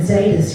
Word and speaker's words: Zaydas: is Arcada in plural, and Zaydas rhymes with Arcades.